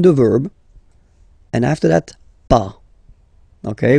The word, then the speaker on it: pas: Okay, so first ne, then the verb, and after that, pas. Okay, we write it PAS, okay, but as usual, final S is not pronounced, so it's pas.